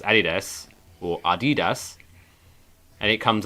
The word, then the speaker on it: adidas: pronounce and before we find out how to pronounce adidas correctly it's adidas what do you think uh we're going to